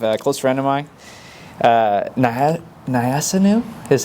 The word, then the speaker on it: Nyassinu: Joining us today, we have a close friend of mine, Nyassinu is how you pronounce it? Nyassinu, real name, right?